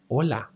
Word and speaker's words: hola: Let's go over the H sound which is mute if it happens before a vowel except in the ch as seen before. So, hola, hola, hola, hotel.